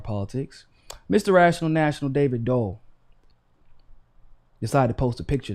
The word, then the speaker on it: Doel: now unsurprisingly your man david dole no david dole spelled d-o-e-l not d-u-l-l although we know he is dole okay we understand that